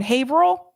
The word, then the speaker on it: Haverhill: By the way, it's pronounced Haverhill, not Haverhill, even though that's the way it's spelled. Welcome to New England, where the towns and the cities do not, the names don't make sense. And sometimes they are now not pronounced the way that they are spelled.